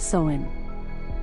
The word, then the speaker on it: Samhain: The night before, October 31st, was the festival of Samhain, pronounced Samhain.